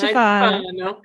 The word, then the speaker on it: Iaciofano: Ladies and gentlemen, I am with Beth Iaciofano. Did I say it right? Oh, I like you got a little twist to it. Iaciofano.